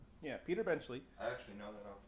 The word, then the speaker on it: Benchley: by I have my notes here finally Peter benley benchley is that how it's pronounced yeah Peter benchley I actually know that off top my I'm